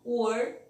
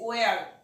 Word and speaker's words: were: Cuidado com a pronúncia, para não falar esse where, tá? Where vira onde.